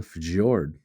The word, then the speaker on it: fjord: and wider than a fjord. It's literally Fjord. FJORD. It's a fjord. Fjord. Is that how Yep. you say that? Like Bjorn? Yeah, that's how you say it.